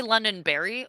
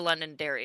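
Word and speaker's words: Londonderry: these days all right did you say London Barry or London Derry because if you said Barry I like the idea you're gonna get made fun of it is I definitely spell it out saying Derry uh I might have said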